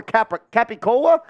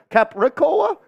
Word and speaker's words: capicola: Hopefully no one takes it offensive that I'm calling it gabagool over capicola? Capricola? Do you pronounce the unseen R in there? It's capicola. Capicola.